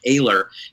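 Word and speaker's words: Oehler: honestly i've got now i've got reason to doubt that i'm pronouncing his name correctly i believe it's eric ohler but i heard some other person re pronounce it as eric aylor it's o-e-h-l-e-r at uh submersible studios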